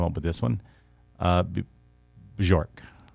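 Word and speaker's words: Björk: with this one uh bjork bjork yeah york you don't pronounce every letter a beechwood i wasn't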